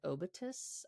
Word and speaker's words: obitus: The word comes from the Latin word obitus, I think is the right way to pronounce it, meaning death.